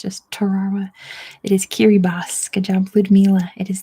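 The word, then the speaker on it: Kiribati: i that's an S sound in um and kiribos that's how they pronounce it next is Saint George's Saint George's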